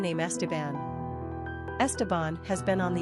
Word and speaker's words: Esteban: Flair quick facts on Esteban gender boy origin Spanish number of syllables three ranking popularity 390 pronunciation EST bun simple meaning Garland Crown